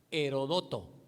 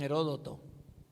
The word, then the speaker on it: Heródoto: Bueno, se le consideró el padre de la historia, se llamaba Herodoto. Algunos dicen Heródoto.